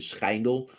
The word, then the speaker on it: Schijndel: Actually, in Dutch, you pronounce it Schijndel, but let's call it Schindel because I think that would be more likely for English people speaking world to say.